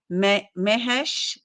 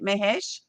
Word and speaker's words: Mahesh: I'm super excited to interview one of our authors today, Mahesh. Let's see. I'm not sure if I said your name right, your last name right. Mahesh.